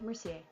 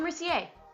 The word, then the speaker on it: Mercier: Mercier. Laura Mercier.